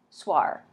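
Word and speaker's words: soir: is harmony duir DUIs duir how do you say that s o y RAR swar so I got that right okay and this is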